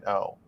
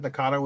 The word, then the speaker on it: Nagano: Because Nagano is a real city, and I just looked up the pronunciation, and apparently that is right. So It is Nagano. Okay. I don't know. Well, I've been saying it wrong.